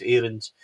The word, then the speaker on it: Aarons: We asked for that to be clarified. We asked the football club to ask Max himself, and then there was a clip of Bournemouth, wasn't there, of him pronouncing his name, and it is indeed Max Aarons. And I know that I'm going to butcher that all season because I'll keep calling him Aarons because my mindset is now that, but it is indeed Max Aarons.